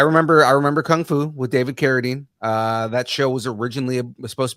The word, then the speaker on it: Carradine: It gave me Kung Fu vibes, a la David Carradine. Is that how you say it? David Carradine? There you go. I remember Kung Fu with David Carradine.